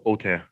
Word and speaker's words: Autin: Autin or Austin? No, it's pronounced Autin. Autin. Okay, Yes, Mr. it's Autin. French, yes.